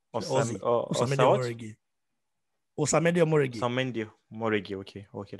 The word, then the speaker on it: Osamede Omoregie: if you know how you pronounce the name. Osamede Omoregie.